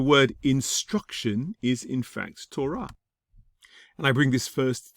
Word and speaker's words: Torah: Torah. You may hear some Ashkenazi Jews pronouncing this as Torah, but Torah is probably going to be the more popular translation, pronunciation of this word.